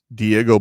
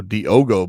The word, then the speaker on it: Diogo: Diego Brito. Mm-mm. Oh, Diogo Brito.